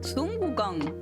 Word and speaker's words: Sun Wukong: Sun Wukong.